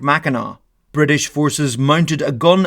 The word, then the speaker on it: Mackinac: Allied with Native-American tribes, the British moved on Fort Mackinack (pronounced mackinaw).